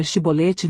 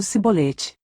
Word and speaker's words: chibolete: para falar a palavra chibolete, mas os efraimitas tinham um sotaque diferente, não conseguiam falar o ch e acabavam dizendo cbolete.